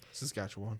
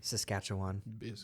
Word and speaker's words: Saskatchewan: with them and so they all move the SAS katchan um Canada did I say that right Saskatchewan Saskatchewan yeah um Canada and a town called Reina um which is mispronounced all the time uh one of the